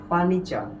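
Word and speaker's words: furniture: আছে বলতো এন আছে এখন তাহলে এই আর এর উচ্চারণ হবে না তাহলে মোটামুটি আমরা এটার উচ্চারণ করি কি বলতো ফার্নিচার কি উচ্চারণ করি ফার্নিচার কিন্তু সঠিক উচ্চারণটা হবে কি বলতো ফার্নিচার কি হবে ফার্নিচার এরপরে দেখো এটার উচ্চারণ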